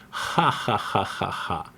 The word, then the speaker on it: ja ja: That's why sometimes you see ja ja but we don't mean ja ja we mean ha haha.